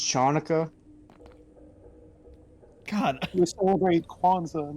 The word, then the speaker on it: Hanukkah: nobody gets left behind it's pronounced chanuka God almost celebrate Kwanzaa